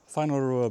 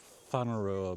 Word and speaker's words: Whanarua: We're in Whanarua Bay at the moment. Wahua, W-H-A. It starts W-H-A-N, it's pronounced fun, like Whakatumi and Whangarei and all that.